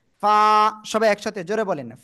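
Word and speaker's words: فاء: শিখেছি সে অক্ষরটাই অক্ষর নিচের ঠোঁটের পেট উপরে দুই দাঁতের আগার সঙ্গে লাগিয়ে হালকা বাতাস বের করে আমরা এক আলিফ টেনে উচ্চারণ করব ফা সবাই একসাথে জোরে বলেন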